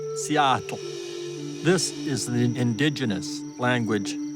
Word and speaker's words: Seattle: People all over the world say Seattle, but in the local language, it's pronounced more like Seattle.